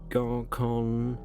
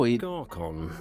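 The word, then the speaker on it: Gorkhon: And last year's demographic survey, Gorkon. Oh, Gorkon. Where is it even? He actually pronounces it Gorkon. Interesting. Because as far as I understand, KH is pronounced H.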